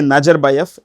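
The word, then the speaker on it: Nazarbayev: ends in with v it's pronounced with an F it's pronouns with an F so even if you say Najar BF it won't make any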